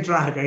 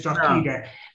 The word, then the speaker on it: Drogheda: She's like the Earl of the Earl of Drogheda. He likes to be called the Earl of Drogheda. Oh, okay. Suppose you don't really say Drogheda, you say Drogheda.